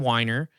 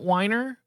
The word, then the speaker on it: Weiner: weiner oh okay but whenever I watched videos online they pronounced it whiner or or some people